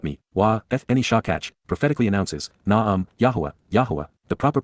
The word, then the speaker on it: Yahowah: 20 And she ignored and then forgot me, Eni Shakach, prophetically announces, Yahowah, the proper pronunciation of YYV2C1, our Eloah, God as directed in his Towrah, teaching regarding his Hayah, existence and our Shalom WM, restoration.